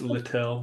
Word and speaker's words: Little: Did I pronounce Little correctly? It's Littell. No, it's Littell.